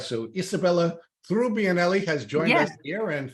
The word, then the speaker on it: Trubbianelli: would be turning in her grave if I mispronounced your name. It's Trubbianelli. All right. So Isabella Trubbianelli has joined us here, and thank you for helping me with that.